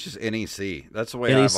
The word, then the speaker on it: NEC: for hudson soft and licensed by is it neck or nec i think it's just nec that's the way that he's always pronounced it just nec it would be it'd